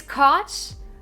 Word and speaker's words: Koch: Koch brothers rhymes with Coke. Koch brothers is Coke. Yes, Nick the Plumber is correct. It's Koch.